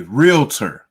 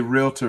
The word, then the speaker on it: realtor: remember that it's so important to pronounce it that way. Not a realtor. Okay. Can't say realtor. If you say realtor, that means you don't know what you're talking about. That's the realtor. So that's the wrong pronunciation.